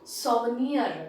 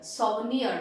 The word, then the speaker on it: souvenir: next one so one year that is the pronunciation souvenir souvenir that is how you pronounce it an object